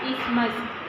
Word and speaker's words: isthmus: We will write it as isthmus, but when we will pronounce, we have to say it as isthmus.